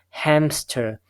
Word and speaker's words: hamster: per sound inserted however in the actual pronunciation we have a p sound now so this is